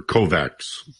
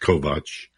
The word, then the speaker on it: Kovacs: And I'd like to mention that your name Kovacs is spelled as if it were Kovacs, Kovacs, but it's pronounced Kovacs.